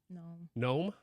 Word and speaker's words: Noem: presidential pick yeah Swami noem Carrie like her other noem how do you pronounce it gnome like started with a G ah the gnome